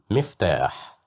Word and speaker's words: مفتاح: مفتاح, مفتاح, مفتاح. Here we have kasra, so that's why we pronounced it as me, مفتاح.